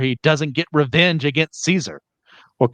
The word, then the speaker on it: Caesar: He can't imagine a world where he doesn't get revenge against Caesar or Caesar, which is the actual correct Latin pronunciation, but I'm going to flip flop between the two.